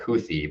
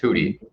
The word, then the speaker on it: Houthi: hoodies they're called um it's sounds like houthi but it's actually pronounced hoody um so you know